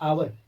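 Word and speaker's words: hour: हम एन क्यों लगाए क्योंकि एच साइलेंट होता है और इसका उच्चारण क्या होता है आवर जो आ से हो रहा है ना तो ये इसी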